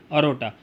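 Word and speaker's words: aorta: अरोटा। और अरोटा बोलते हैं, ऑर्टा बोलते हैं, वो डिपेंड है, वो जो प्रोनाउंसिएशन आपके ऊपर डिपेंड है।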